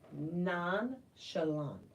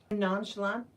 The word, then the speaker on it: nonchalant: renissance and non shant we pronounce the CH like it's an sh because it's a French word French have the sh instead of CH or the C nonchalant nonchalant yeah maybe nonchalant and